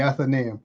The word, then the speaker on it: Athenaeum: And pronounce that for me. The Athenaeum.